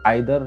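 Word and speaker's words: either: बाय द वे कैसे पता चल गया मुझे कि ये आइदर या इधर भी प्रोनाउंसिएशन प्लूरल फॉर्म है।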